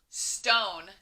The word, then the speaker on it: stone: Remember that silent E doesn't say anything. It doesn't say eh, and it doesn't say E. It's just there to tell the O to say O, not aw.